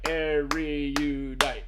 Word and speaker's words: erudite: It's just erudite. Yeah. Okay. I was putting an extra syllable. All right. I was I went erudite. It's erudite.